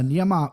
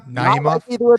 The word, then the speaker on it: Naimov: Uh Nyama, excuse me. Uh, Naimoff, how you say it, John? Give me one more time. Naimov knows, my man.